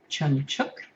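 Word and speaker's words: Trưng Trắc: Um, so the the two the two sisters, the elder one is called Chungchuk. Um, if you're trying to to keep up at home with the the pronunciations, it's spelled like chumchuk in uh in English.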